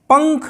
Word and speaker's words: पंख: अच्छा, हम अगर अगला उदाहरण लेते हैं, ख, पंख शब्द है, पंख, अंक, पंख। देखिए, समान ध्वनियाँ निकल रही हैं, आ के बाद और का से पहले ङ की आवाज़ निकल रही है, यहाँ भी पा